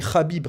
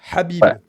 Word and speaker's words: Habib: quelqu'un en commentaire qui l'a qui a dit Khabib. Khabib, c'est pas de l'arabe. Khabib, c'est si Khabib Nourmagomedov, mais c'est kh là c'est Habib et c'est pas Khabib pour prononcer Habib, c'est